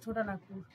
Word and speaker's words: ছোটনাগপুর: নাগপুর, ছোটা নাগপুর। উচ্চারণ ছোটনাগপুর।